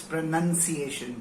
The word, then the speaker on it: pronunciation: प्रोनाउंसिएशन, I repeat, it's नॉट प्रोनाउंसिएशन, it's pronunciation, pronunciation, pronunciation.